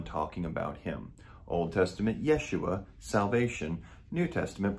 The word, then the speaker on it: Yeshua: his name his hebrew name would actually be yeshua or what we would call joshua which means